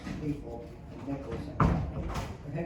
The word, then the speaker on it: Stifel: They have sold as of September 27th to, it's pronounced Stiefel. Spelled Stifle, but it's pronounced Stiefel and Nicholas and Company.